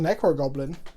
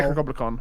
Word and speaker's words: Necrogoblicon: Wait, the name is Necrogoblicon? I thought it was just Necrogoblin. Wow. No, Necrogoblicon. Are they two different bands? Or am I just been saying it wrong all these years?